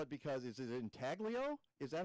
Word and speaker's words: intaglio: Your wife did, and I don't even know how to spell it because is it intaglio? Is that how you pronounce that? It's Italian, yeah.